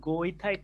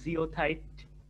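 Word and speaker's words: goethite: স্যার, এই দুই অক্সাইডের দুই নাম্বার তো এটা গিওথাইট না জিওথাইট? আচ্ছা, জিওথাইটও বলতে পারো, গিওথাইটও বলতে পারো, কোনো সমস্যা না, এটা যে যেভাবে উচ্চারণ করবে।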